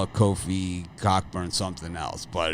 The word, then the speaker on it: Cockburn: best names it's not coburn that's for damp sure but the ock is silent yes the ock is